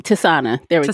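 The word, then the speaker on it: Tisaanah: Tisana. There we go. Tisana, okay.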